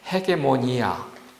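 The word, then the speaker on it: ἡγεμονία: 쥐고 있었던 통치권, 통치권이 이게 헬라 말이 뭐냐면 헤게모니아. 이거 헤게모니아입니다. 그렇게 읽을 때 이것을 헤게모니아라고 읽습니다. 우리가 말하는 헤게모니, 통치권, 지휘권,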